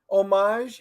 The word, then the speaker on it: homage: Homage is much better than what you used to pronounce it.